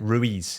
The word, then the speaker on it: Ruiz: Ruiz.